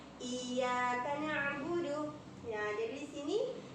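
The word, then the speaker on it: إِيَّاكَ: Ini jika ya biasa tidak bertasydid seperti ini, maka ini baca ya, Ya, tapi jika bertasdid, maka jika diartikan dalam bahasa Indonesia itu menggunakan dua huruf Y. Iya, iya, ya. Iyyaka na'budu.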